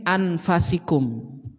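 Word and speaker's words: أَنْفَسِكُمْ: Fa-nya dibaca fathah. Jadi bacanya gini. Laqad ja'akum rasulun min anfasikum.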